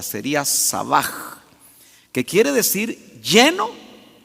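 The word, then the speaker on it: שבע: de la raíz sabah la H no es muda en el hebreo se pronuncia como J sería sabaj que quiere decir lleno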